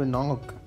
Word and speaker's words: knock: अब गाइस 2 बंदे बचे थे, लेकिन यहाँ पे हम होने वाले हैं KNOCK, कनॉक मतलब नॉक। और ये गाइस ये जो इंग्लिश का साइलेंट वर्ड होता है ना, इससे मुझे इतना